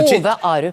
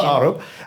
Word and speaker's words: Arup: Arup. You taught me how to say his name properly just before this. His mother was Norwegian. Arup, and he was brought in to do that.